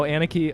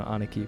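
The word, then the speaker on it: 兄貴: those who don't know anaki anaki it's you like in Japanese it's you know aniki but uh it's it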